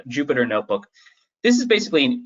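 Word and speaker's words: Jupyter: a python notebook or sometimes called a Jupiter notebook j-u-y sir j-u-p-y-t-e-rs how it's spelled but uh Jupiter notebook this is basically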